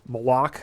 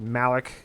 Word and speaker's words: Malak: this new boss called Malak, I guess is how you say it. It's M-A-L-A-K. I would have pronounced it Malik, and they kind of